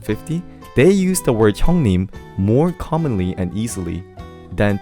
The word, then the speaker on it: 형님: 형님. That's the pronunciation.